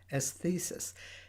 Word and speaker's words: Esthesis: checked it out the it's spelled e s t h e s i s as thesis it's really a really